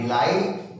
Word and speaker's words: delighted: DELI, डिलाइट, GH silent, TED डिलाइटेड, हो गया।